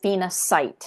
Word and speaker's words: phenacite: Some people pronounce it phenacite and spell it with a C.